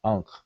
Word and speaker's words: ankh: Now in English, what people tend to do is they would transliterate that third consonant with two English letters, a K and an H. So we would say unk, and we would spell it ANKH.